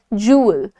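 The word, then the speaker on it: jewel: कहते हो अंग्रेजी में जुवेल नहीं कहते जुवेल नहीं होता दैट इज जूल जूल तो क्या हो रहा है यहां पर आप कह रहे हैं जू ल बहुत लाइट सा ल सो यू से जूल जूल राइट मेरी तरह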